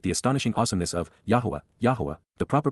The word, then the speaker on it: Yahowah: Revere y appreciate the astonishing awesomeness of yah yahwah the proper pronunciation of the name of eloah God as